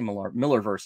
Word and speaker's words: Millarverse: I say Millarverse, I guess. I always want to pronounce it weird because it's got an A in it. It's not an E, but I think it's just pronounced Miller.